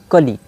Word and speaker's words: Kali: नहीं किया गया है, लेकिन इसको जो प्रोनाउंस यहाँ लिखा गया वहाँ KAH-LEE लिखा गया है, मतलब कली में तो ह्रस्व ही होता है। ये लिखा है काली, और काली के बगल